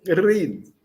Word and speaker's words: rid: Rid. O R vibrante e o D de dia.